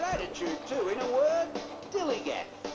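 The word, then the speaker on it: DILLIGAF: In a word, dilly-gaff. That's spelled D-I-L-L-I-G-A-F, dilly-gaff.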